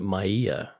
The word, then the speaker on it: Maya: only four letters but how would you pronounce this Scott it's Maya is it Maya Maya or is it Maya it's Maya okay so Maya Newton from